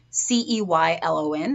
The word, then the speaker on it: Ceylon: Two that you've probably heard about are Ceylon cinnamon, Ceylon, that's how it's pronounced, or rather that's how it's spelled.